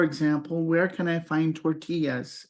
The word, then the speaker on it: tortilla: And you might ask the clerk, for example, where can I find tortillas? And we do pronounce it tortilla, even in English.